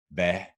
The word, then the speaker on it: hvad: In this particular combination, the H is always silent. And it goes for a lot of these question words that we use in Danish. Hvornår, hvad, hvem, hvor, or hvordan.